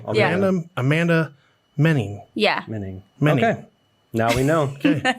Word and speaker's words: Moening: I thought it was moaning forever. So, the O is silent. yeah. Yep. So it should be two E's there. It for sure. Okay. Cool. Yeah. Amanda Moening. Yeah. Menning.